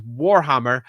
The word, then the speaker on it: Warhammer: But do be aware, this is Warhammer, and I will stress the first syllable of that.